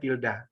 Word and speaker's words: tilde: Tilde, tulisannya tilde, bacanya tilda.